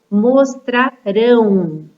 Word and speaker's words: mostrarão: Já quando o verbo, ele usa a terminação ão, né, do futuro, mostrarão. É uma forma verbal onde a última sílaba que é mais forte. Então, essa palavra, ela é classificada como uma oxítona, tá bom?